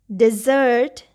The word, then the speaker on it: dessert: In this one, we have the stress on the second syllable, dessert. Here we have the stress on the first syllable, desert.